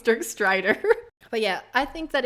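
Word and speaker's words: Dirk Strider: mention having sex with dirk snyder you said his name wrong it's jerk strider but yeah i think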